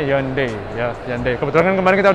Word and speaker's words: Hyundai: buat para sofa Japu ngomongnya bukan dibaca bahasa Indonesia yundai Tapi bacanya yonde Ya seandainya kebetulan kemarin